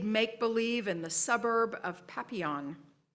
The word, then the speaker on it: Papillion: She and Myra explored the great outdoors and played make-believe in the suburb of Papillion. They say it Papillion? Papillion. Oh, okay, all right. You pronounce it properly, they don't.